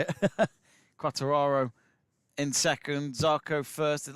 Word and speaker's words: Quartararo: Quartararo in second, Zarco first.